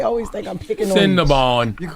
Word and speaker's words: Cinnabon: I know it's Bond. It's spelled B-O-N. Duh. I don't know what the fuck they talk about. Bun is B-U-N.